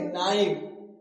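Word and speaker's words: knife: तो यहां कनाइव नहीं पढ़ेंगे। इसे कनाइव नहीं पढ़ेंगे। कनाइव नहीं पढ़ेंगे। इसे क्या पढ़ेंगे? नाइफ। ठीक? यहां जो के है वो क्या है? साइलेंट है। लिखना है लेकिन बोलना नहीं है।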